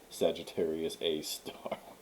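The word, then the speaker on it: Sagittarius A*: an asterisk sagittarius a and then you pronounce the asterisk as star sagittarius a star because it's a star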